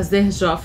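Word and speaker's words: Xerjoff: Herba pura da marca zer jof escreve Sher jof né mas tem essa pronúncia então é uma marca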